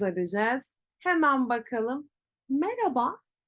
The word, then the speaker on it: Merhaba: telaffuz edeceğiz hemen bakalım Merhaba oradaki H sesi Sanki yokmuş gibi Merhaba nasılsın Merhaba Merhaba değil Merhaba daha yumuşak bir diğer öğretmenimiz Yarın